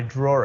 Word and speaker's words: draw: draw it now the the verb and verb draw draw it doesn't have an r right but because of the intrusive r we are going to pronounce it as if there was an r so he says this